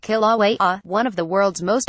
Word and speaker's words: Kilauea: Kilauea, pronounced Kilauea, one of the world's most active volcanoes, has been erupting continuously since 1983.